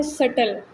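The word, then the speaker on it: subtle: Next है सटल. यहाँ पे बी साइलेंट है जितने भी वर्ड्स होंगे.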